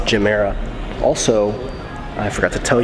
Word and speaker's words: Gemera: mirror to look at quick correction on my part this is the jumeirah the jumeirah the ge is to give and the mirror is to more i just said gimmera but it's gymera also i forgot to